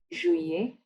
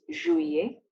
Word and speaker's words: Juillet: May, June, Juin, July, Juillet. Note that the double L here is silent, so it's Juillet, August, Août, September, Septembre, October, Octobre, November, Novembre, and December, Décembre.